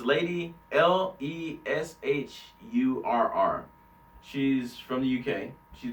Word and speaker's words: Lady Leshurr: It's Lady Leisure or Lady Leisure, but it's Lady Leshurr.